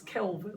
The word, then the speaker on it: Kelvin: temperature and s-i is Kelvin it sounds like the name Kevin but it's Kelvin with the l or in metric it's